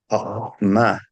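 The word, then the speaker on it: חָכְמָה: Como ustedes yo creo que han escuchado los de Medio Oriente, como hablan a veces como con una J intrínseca acá. Jochma.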